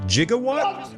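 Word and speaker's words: gigawatt: from Back to the Future, which should be pronounced Jigawatt.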